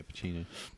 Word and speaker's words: Pacino: Is that pronounced Al Pacino? Yeah, Pacino.